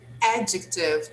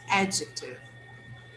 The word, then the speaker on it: adjective: one small observation here the word adjective the stress is on the first syllable so try to say that again please adjective adjective adjective adjective yes